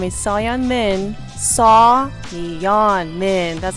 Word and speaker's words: Seoyoen: Seoyoen Min, that's how you pronounce it.